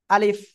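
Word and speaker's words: ألف: যে অক্ষরটা এই অক্ষরটা আমরা এখন শিখলাম কিভাবে উচ্চারণ করব আলিফ দ্রুত পড়বো আমরা আলিফ অক্ষরের নাম কি সবাই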